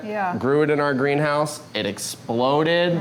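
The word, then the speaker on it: Greenhaus: a little unique is I say greenhouse, but we spell it H-A-U-S, greenhouse, because it's more of a modern style warehouse.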